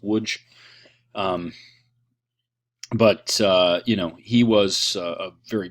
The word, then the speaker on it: Łódź: That's the name of the town, spelled Lodz, with lots of diacritical marks on those letters. It's pronounced Łódź.